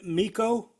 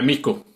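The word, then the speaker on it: Mikko: Uh Miko. Miku. It's not even It's a Finnish name. It's not even supposed to be pronounced like that.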